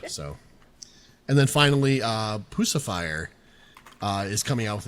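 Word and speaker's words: Puscifer: So, and then finally, uh, Pusifier, uh, is coming out with a new album sometime winter 2025. Uh, Pacifier is or Pusifer, I should say, is is how you pronounce it.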